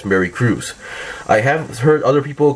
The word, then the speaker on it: Mercurius: So regarding the pronunciation for Mercurius, I'm kind of basing it on what I've heard as a kid. So the Japanese version and the Korean dub version, because in the Japanese and Korean dub version, they go with the pronunciation something like Mercurius. So which is why I would assume in the English it should be similar, going as Mercurius.